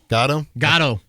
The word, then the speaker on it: Gatto: Gatto. Like Joe Gatto from Impractical Jokers?